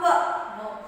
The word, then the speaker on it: know: Here again, K is silent, children.